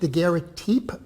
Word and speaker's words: daguerreotype: have Louis Daguerre daguerreotype I am told that it actually should be pronounced the Garrety but I've never heard anyone actually does that in public so I will go